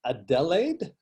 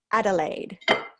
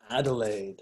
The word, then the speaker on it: Adelaide: Is it Adelaide? Oh, close, Jared. We pronounce it Adelaide. Adelaide.